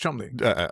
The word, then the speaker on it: Cholmondeley: And it's actually spelled Cholmondeley. So it's quite obviously pronounced Chumley.